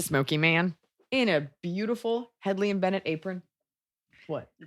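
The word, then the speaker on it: Hedley & Bennett: room it's a smoky man in a beautiful Headley and benett apron what you pronounced it right I say headle um we're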